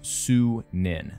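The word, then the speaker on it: Sýnin: Darby confirm on Twitter as well that it's pronounced su Ninh that is the name of our Raven companion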